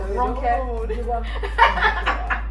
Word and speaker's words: Ronke Giwa-Onafuwa: yeah, there is a way you pronounce it. You take your time. Like, fam, don't rush my name. Ronke Giwa-Onafuwa.